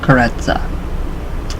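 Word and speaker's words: Karezza: The mental technique used to accomplish this is known as kareza, pronounced kareza, with the accent on the syllable.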